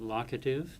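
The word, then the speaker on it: locative: Grimarians pronounce it lockative like lock and key.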